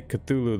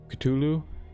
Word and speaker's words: Cthulhu: the call of cthulhu now the pronunciation there i'm gonna say cthulhu the whole time uh i've heard a lot of people call it ctulu as well but i'm gonna go with my first pronunciation the call of cthulhu